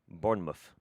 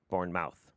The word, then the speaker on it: Bournemouth: since you mentioned mispronunciations born mouth is bournemouth not born mouth born born it took